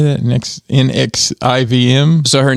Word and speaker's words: NXIVM: Next NXIVM.